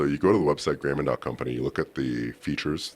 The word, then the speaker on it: Grayman & Co: But we like to say Grayman Company, like a proper tailoring house.